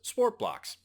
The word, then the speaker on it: Sport BLX: Sportblocks, you may be familiar with Sport BLX. It's actually pronounced Sportblocks.